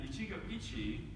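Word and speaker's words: 一期一会: is two japanese characters these characters uh are pronounced in chico ichi and ichigo ichi as they're written up here means treasure every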